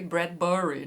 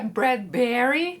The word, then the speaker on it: Bradbury: o teatro de Ray bradburry né era assim que o locutor pronunciava o sobrenome deixa autor mas anote aí o certo é bradberry né a sílaba tônica é o b mesmo tá Mas voltando ao teatro